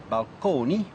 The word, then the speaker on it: balcony: to describe them so balcony still pronounced at that time in the Italian manner balcone as well as Fresco